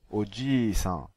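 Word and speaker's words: お祖父さん: Il en va de même pour le I long, que l'on prononcera I, comme dans Oji-san, le grand-père.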